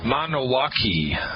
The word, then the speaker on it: Milwaukee: nine nine three three Milwaukee is a Potawatomi Wordie Potawatomi a Native American word pronounced mono walkie mono walkie which translates loosely to